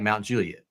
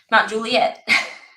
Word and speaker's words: Mount Juliet: there's no a leon yeah it's like Mount Juliet Mount Juliet yeah you can't say Juliet it's not how you say it's Mount Juliet M Juliet yeah commissioner